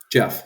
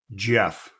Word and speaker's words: Jeff: Jeff, yeah. Wait, say it one more time. Jeff. That was a little too soft. It's a little sharper of a J.